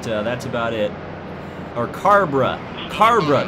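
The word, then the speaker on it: Cabre: We actually helped Harrison Burton get through past Haley Deegan and chase Cobra, but that's about it. Or Carbra. Carbra, that's how I was told to pronounce it.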